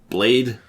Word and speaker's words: Blaidd: And then this is when he meets Blade, which is...